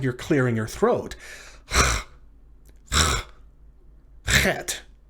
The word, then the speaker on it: chet: Your grammars will often say that it's pronounced like the English letters C and H in the name Bach, or the C and H at the end of the Scottish word Loch, like Loch Ness.